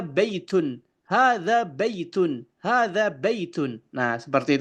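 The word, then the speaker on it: هذا: Jadi ee pengucapan yang benar adalah yang pertama sesuai dengan makharij huruf itu sendiri. Hadza baitun. Hadza baitun.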